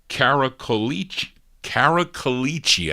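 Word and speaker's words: Cracolici: features Phil uh uh carak carichi I think that's how you say it in the Italian way on lead and this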